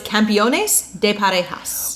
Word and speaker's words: Campeones de Parejas: It's Campeones de Parejas.